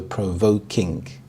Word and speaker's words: provoking: The primary stress is on the second part of the compound word, voke, so provoking.